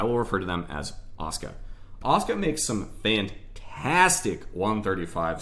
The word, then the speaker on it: Asuka: people said it but apparently the correct Japanese pronunciation is Asuka so I will refer to them as Asuka Asuka makes some fantastic